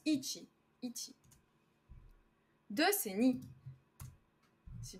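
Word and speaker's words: 一: 2 donc 2 1 ça c'est ça se prononce Ichi Ichi de c'est ni si tu veux bien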